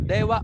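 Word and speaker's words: では: So, dewa po ang bigkas dyan ha.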